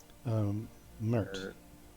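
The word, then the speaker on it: Mirt: Mert. M-I-R-T is what I have written down, but Mert.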